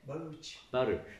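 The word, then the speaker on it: Bharuch: Baruch.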